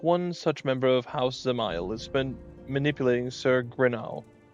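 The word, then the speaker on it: Dzemael: So the D is silent. Zamile.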